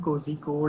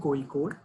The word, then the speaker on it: Kozhikode: So it's not IIM Kozhikode or IIM Kozhikode or something like that. So it's IIM Kozhikode. So basically the Z is silent in Kerala in every name.